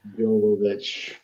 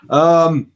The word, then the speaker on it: Jovovich: I can never pronounce her surname. Jovovich. It's a Y, isn't it? Jovovich.